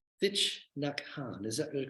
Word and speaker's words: Thich Nhat Hanh: Thich Nhat Hanh, is that the correct pronunciation? Thich Nhat Hanh, it's good to have that right.